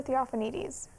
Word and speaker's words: Theophanides: I was going to say I can't really pronounce it very well, but What say is it again. His name is Christopher Theophanides.